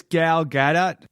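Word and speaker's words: Gal Gadot: I believe it's gal-gadot.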